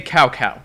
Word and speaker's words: Cao Cao: Lubu sounds like a nasally dad trying too hard to sound cool, and they don't pronounce Cao Cao's name correctly. Say Cao Cao.